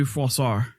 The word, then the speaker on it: Froissart: Um Froissart? Yeah, so it it would be Froissart.